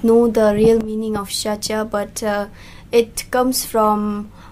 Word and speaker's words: Shacha: my full name is shaa and you spell it like s h a c h a shacha then w a n g m o shaa